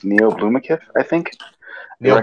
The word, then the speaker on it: Blomkamp: I would honestly like to put in, if possible, and I can't remember to pronounce this guy's last name, but it's Neil Blomkamp, I think. Neil Blomkamp.